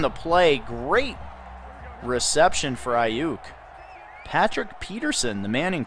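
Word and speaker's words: Aiyuk: How do you pronounce his name, Mr. Snipes? Brandon Ayuk.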